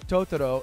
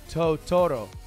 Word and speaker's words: Totoro: You're putting the stress on the wrong syllable. You're saying Totoro. It's actually Totoro.